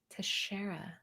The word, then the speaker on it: Teixeira: Teixeira.